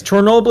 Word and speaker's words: Chernobyl: And yes, Chernobyl is the accurate way of saying it.